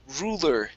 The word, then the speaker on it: ruler: This word here is pronounced ruler with an U. Ruler. Ruler.